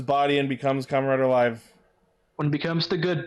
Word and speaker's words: Live: Speaking of more writers, next week will be the debut of Kamen Rider Live, and it apparently is pronounced live, not live.